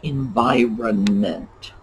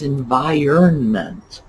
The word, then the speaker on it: environment: i hear that frequently people are forcing the pronunciation to match the spelling its environment i that root in there iron that's what you need to keep in mind to keep that pronunciation straight iron like the type of metal or iron